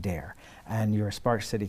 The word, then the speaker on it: Dahir: point out again that his last name is actually spelt d-a-h-i-r but it's pronounced dare and you're a spark